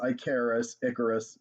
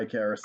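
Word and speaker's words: Ikaris: the greek pantheon hence icarus it is pronounced like harris that's clear in all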